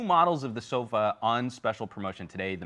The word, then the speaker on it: Sova: That's the Sova, pronounced almost like sofa. But with a V.